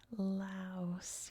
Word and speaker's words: Laos: geography of Pokeo in Laos. You can see the LA here in LA. Also, just a quick note, because most countries, including this one, pronounces it lao with a silent s at the end.